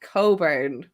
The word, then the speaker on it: Cockburn: welcome to the truck it's pronounced coburn coburn yeah there's a singer there's a baby um just because of beatings you can't have a kid answering to cockburn during attendance no we're